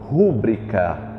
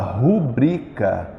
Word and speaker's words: rubrica: comum aqui no Brasil nós dizemos Assina aqui sua rúbrica quando na verdade só existe a palavra rubrica ela é uma paroxitona não foi atualizada pelo